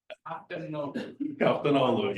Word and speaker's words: Kaftanoglu: handing out the tickets captainu yes is a silent G it is a silent